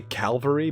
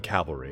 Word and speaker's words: cavalry: calvary cavalry officer among see i say calvary but i mean cavalry it's just the way i pronounce it i don't know why cavalry officer among